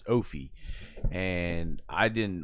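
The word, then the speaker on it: Ophie: But yeah, his name is his it's but it's it's spelled O P H I E. So you read it as Oie.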